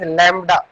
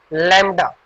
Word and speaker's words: lambda: This is pronunciated as lambda. This is pronunciated as lambda.